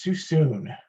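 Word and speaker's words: Suisun: want to officially say the correct way to say it it is too soon soon kind of like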